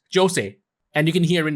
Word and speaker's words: Jose: I am going with Jose is because the Japanese pronunciation of his name is Jose and you can hear